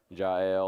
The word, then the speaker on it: Jael: So they go and they defeat Sisera, and we talked about Jael or Jael, we sometimes pronounce it, killing Sisera in her tent with a tent peg.